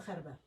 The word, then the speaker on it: Gerba: Is it Gerba or Gerba? It's Gerba.